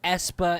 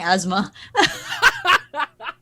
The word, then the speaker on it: aespa: out, when they got released and everything, I had a friend who couldn't pronounce their name, so she was saying asthma. Asma.